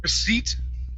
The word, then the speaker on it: receipt: The P is silent. We do not pronounce that.